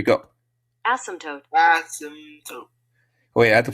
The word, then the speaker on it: asymptote: It's actually a what? Asymptote. Asymptote. Tote. Like that, right?